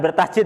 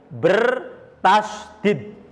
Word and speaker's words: bertasydid: Oh, jangan bertasdid ya. Bertasydid.